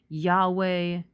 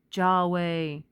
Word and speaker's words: Yahweh: And the Yod can be pronounced as a Yah or as a Jah. So it's Jerusalem or Jerusalem, Yahweh, Jahweh, Yehovah.